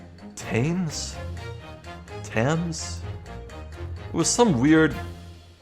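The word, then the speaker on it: Thames: tomorrow morning oh yeah it's not pronounced themes it's uh tames Tams it was some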